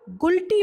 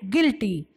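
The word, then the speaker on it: guilty: जीतू आइए प्रतिवादी डोशी अब इसको आप उल्टी मत बोलिए का यह उल्टी नहीं है जो यह है हमारा उस साइलेंट है तो हम इसको बोलते हैं गिल्टी प्रसेंस कैसे करेंगे gill22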